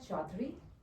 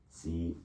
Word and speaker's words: Chaudhary: And so, how do you say your last name? Okay. It's Chaudhary. Chaudhary. Yes. Chaudhary. Correct.